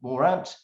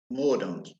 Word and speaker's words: Mordaunt: So we got boost for trust in bitter struggle with Morant. How do you say this? It's not Morant, is it? Guys? Mordaunt. Mordaunt. There we go. Mordaunt.